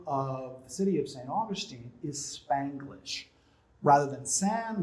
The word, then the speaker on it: Saint Augustine: of the city of saint augustine is spanglish rather than sand we have saint we spell it as if it was in english but we pronounce it as if it's in spanish okay and then we